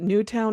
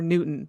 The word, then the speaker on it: Newtown: like i can't remember if they pronounce it newtown or newton that was just me it just depends on who you talk to yeah which i went